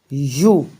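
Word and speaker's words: ewe: यू, सबसे पहले तो इसका जो प्रोनाउंसिएशन होगा वो यू होगा।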